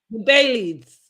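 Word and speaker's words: Baileys: her dog's name is Bailey. So the next thing we see is Bailey's. With Bailey's. That's what I said, Bailey's. Bailey's. I'm saying the S, Bailey's.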